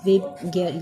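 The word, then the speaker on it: VIBGYOR: Rainbow में जिस तरह कलर्स की अरेंजमेंट होती है, विब गियर ये इसकी है pronunciation. Violet, Indigo, blue, green, yellow, orange, red, ये पूरा स्पेक्ट्रम है।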